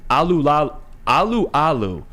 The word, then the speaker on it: Alualu: Veteran defensive tackle Tyson Alualu, I believe is how you pronounce his name.